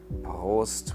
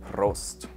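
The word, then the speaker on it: Prost: we would say host so that's a little difficult to pronounce because of the r with which many might have difficulties post with the rolled r in the throat or if you're more in bavaria with the road tongue roast thank you for tuning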